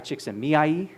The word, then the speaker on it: Csikszentmihalyi: I always ask for credit that on this that you give me for pronouncing the name of the person. This is Mihai Csikszentmihalyi.